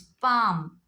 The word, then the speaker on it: palm: If you look at all the words, before L, if you have A, O, U, the L becomes silent.